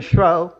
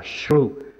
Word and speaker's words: shrew: Ed ecco che gli salta fuori che lui non la pronunciava shrew, ma la pronunciava shrew, perché sia qui che in altre parti del dramma la fa rimane con il fonema show.